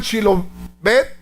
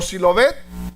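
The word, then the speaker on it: Shibboleth: Si pronunciaban Shilobet con la H o Silobet, ahí hacía la diferencia.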